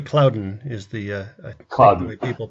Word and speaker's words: Cloudant: may go I think I called the cloud ein it's actually Cloudant is the cloud many